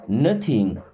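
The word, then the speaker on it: know: मैं आया वी नो nothing we मीस होता है हम नो वर्ड में के साइलेंट होता है और डब्लू भी नो मीस जानना वी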